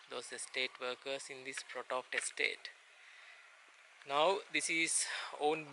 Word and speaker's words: Frotoft: Alright, we have arrived here at the old Frotoft Hospital. I need to pronounce it correctly. It's Frotoft, F-R-O-T-O-F-T. So this is where we are going to leave our vehicle and start the trek towards Chariot Path.